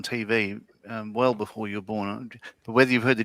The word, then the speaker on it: Beau: They did a segment where one of our rugby players, I think it was Bo Ryan, but his name is spelt like Beau, Bo.